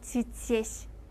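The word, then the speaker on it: здесь: 그 다음 조금 어려운 거 드디에시 하지 않고 지지에시, 제였죠.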